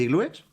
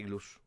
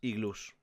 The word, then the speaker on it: iglús: ¿No se dice iglúes? No se dice iglúes, se dice iglús. Porque acaba en vocal. Tren, el plural de tren es trenes y el plural de iglú es iglús.